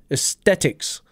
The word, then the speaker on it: Aesthetics: at the start AE Aesthetics Aesthetics we might notice that this T has a little bit more aspiration it's got more H in there athetics Aesthetics that's if